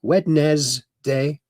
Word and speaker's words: Wednesday: That's the way it's spelled. Wednesday.